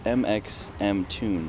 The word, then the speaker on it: mxmtoon: So it stands for my initials, MXMT, and then the tune was actually made originally by my dad.